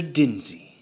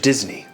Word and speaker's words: Disney: So, you are in fact Mr. Denzy. No, Mr. Disney, if you're going to say it, say it right.